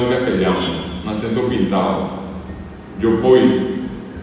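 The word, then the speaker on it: jopói: Yopoy, el acento en la segunda o Yopoy.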